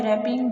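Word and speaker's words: wrapping: फॉर रेपिंग यह birthday रैपिंग W silent है रैपिंग निपटने के लिए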